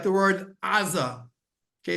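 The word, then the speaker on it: עזה: By the way, like the word aza, okay, is with an ayin, and that's why the English speakers cannot say a guttural ayin. That's why they call it Gaza. Interesting. I didn't realize that. Aza, but there's no ah in English, so it turns out to Gaza.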